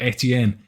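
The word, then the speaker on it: Estienne: actually with that spelling with the silent s for Etienne it's an archaic spelling and nowadays they don't have the S so there we go I'm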